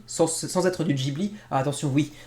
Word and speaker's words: Ghibli: du Ghibli attention oui beaucoup de Français prononcent Ghibli parce que c'est GH mais c'est à cause des Japonais qui ont mis un H là où il n'y ait pas censé être en fait ça se prononce Ghibli en japonais donc voilà vous le